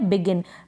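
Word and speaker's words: begin: तो यहां पर जी को हम ज नहीं पढ़ रहे। हम क्या पढ़ रहे हैं? ग पढ़ रहे हैं। तो ये स्पेलिंग है बिगिन। बिजिन नहीं पढ़ेंगे।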